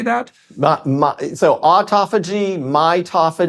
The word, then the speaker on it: autophagy: that again how do you say that so autophagy mitophagy autophagy it's and mitophagy yes okay so you want